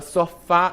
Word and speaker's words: sofá: Então, a palavra sofá, como é que a gente então eh sabe que a palavra só fá ela é uma oxítona?